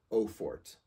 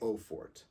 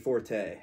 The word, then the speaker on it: Eau Forte: please stop pronouncing it Forte stop just stop pronouncing it Forte it's not Forte it's not Forte there's no accent over the E it's not Forte do